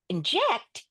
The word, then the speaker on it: inject: But inject is a CVCV with the accent on the second syllable.